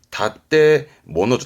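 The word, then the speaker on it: 建物: 그래서 발음이 다떼모노죠.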